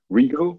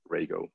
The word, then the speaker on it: Rego: announced since then radio I used to say regal and actually pronounced Rago so I know it's a bit strange especially